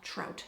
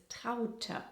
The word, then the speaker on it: Traute: You'd pronounce that trout, Americans, wouldn't you? Elk, wolf, trout. Yeah. Hey, soon we can open our own mispronounced German names zoo. Similar to Elke, the correct way of saying this is Traute.